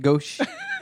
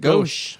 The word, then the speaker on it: Gose: Gose beers? Gose. Yeah. Gose? Gauche. Apparently that's what we pronounce it. Gauche.